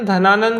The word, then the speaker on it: धनानंद: अभी पढ़ा हमने, घनानंद भी बोलते हैं इसे, हम धनानंद भी बोलते हैं।